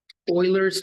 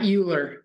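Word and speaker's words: Euler: great so do the trig functions Oiler and Oilers formula and yes it's pronounced Oiler not uler I thought it was uler for the longest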